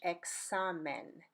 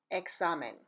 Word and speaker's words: examen: The first is like the KS in the word talks, And the word examine, for example, in Spanish, examen, examen, which means exam or test.